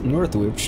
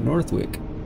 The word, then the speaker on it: Northwich: i learned last episode it's northwich not northwick and done which is dunwich